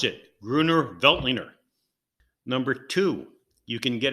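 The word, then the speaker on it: Grüner Veltliner: so the three things you got to know pronounce it gruner veltliner number two you can get it cheap point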